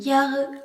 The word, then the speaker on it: Jahre: Ich bin 16 Jahre alt s'écrit I-C-H, ich, B-I-N, bin, 16, S-E-C-H-Z-E-H-N, 16, Jahre, J-A-H-R-E, où l'on remarque que le H prolonge le A.